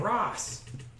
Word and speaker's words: Ras: Sounds like a When I say Ross, I mean RAS. We are agreed. never. Yes. R-A-S by itself. Sounds like a R-A-S. bad person. Oh, but R-A-S. it pronounces the same.